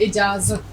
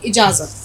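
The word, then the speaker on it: इजाज़त: के बिना अनुमति इत इजाजत ठीक इसका उच्चारण ठीक होना चाहिए कभी भी ज की आवाज गलत नहीं निकलनी चाहिए अनुमति या इजाजत तो उसने कहा कि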